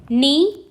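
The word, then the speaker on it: knee: of words जैसे देखो नी नाइफ नॉट एंड नो ठीक है अब हम जब नी बोल रहे हैं तो हम के की आवाज नहीं बोल रहे नाइफ बोल रहे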